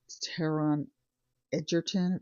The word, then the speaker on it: Taron Egerton: I watched a movie last night on Netflix called Carry On with Jason Bateman and Taron Egerton.